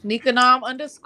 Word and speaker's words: Nikangam: Nikanom _ all lowercase. The G Oh, is silent.